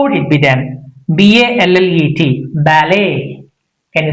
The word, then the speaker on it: ballet: We should not make it louder. That means it's a silent. It becomes silent. So how would it be done? B A L L E T ballet.